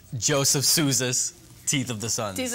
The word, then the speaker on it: Sousa: Sousa.